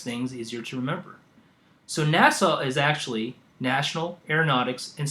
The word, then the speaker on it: NASA: items on there now NASA is actually you're like okay well NASA is four however how do we pronounce it we break it down to two syllables Nat and saw so if you look